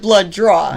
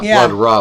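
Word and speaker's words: Bloodraw: his name meant Lord blood draw blood draw it's like sounds like drawing blood not blood raw blood draw you supposed to say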